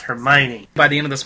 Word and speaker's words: Hermione: these stupid British names hermi but you say it fast Hermione by the end of